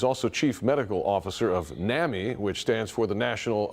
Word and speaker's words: NAMI: He's also Chief Medical Officer of NAMI, which stands for the National Alliance of Mental Illness, or on Mental Illness.